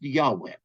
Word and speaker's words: Yahweh: y h w h vowels were added later and it is often pronounced Yahweh but it's y h